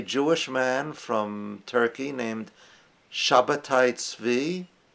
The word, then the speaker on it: Sabbatai Zevi: man from Turkey named Sabbatai Zvi, or some people pronounce it Sabbatai Zevi, claimed to be the